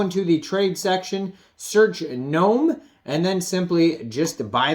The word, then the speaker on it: GNOME: So what is the GNOME token? It says pronounced like as a garden gnome.